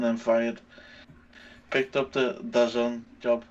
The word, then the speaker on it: DAZN: You have to say it like that, by the way. DAZN.